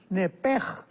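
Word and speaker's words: נפש: hebrea es muy importante porque es la palabra nepesh con sh al final. Neph. En el hebreo se pronuncia eh la sh con j. Entonces, la pronunciación hebrea es nepej.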